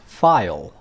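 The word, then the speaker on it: phial: And a quick note for people studying for IELTS, the British spelling of vial is P-H-I-A-L, and it's actually pronounced file.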